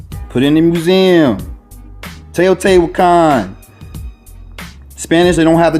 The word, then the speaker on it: Teotihuacan: It's Teotihuacan. I'm half Puerto Rican. I know how to pronounce a lot of words in Spanish.